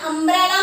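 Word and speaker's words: umbrella: आप कहोगे अम्ब्रेला में भी यू आया है, लेकिन अम्ब्रेला में प्रोनाउंसिएशन अम्ब्रेला है, करेक्ट वर्ड इज अम्ब्रेला, है ना। प्रोनाउंसिएट कैसे करते हैं उसको? अम्ब्रेला तो अ हो गया, लेकिन यहाँ यूनिफॉर्म को हम कैसे प्रोनाउंसिएट कर रहे हैं?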